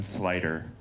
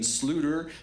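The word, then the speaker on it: Sluyter: t r yes D I would pronounce that Dean Sloter but it's slider slider like van eyes van eyes okay right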